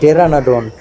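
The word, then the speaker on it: Pteranodon: बाकी P silent टेरानाडोन, उसको तो हम कर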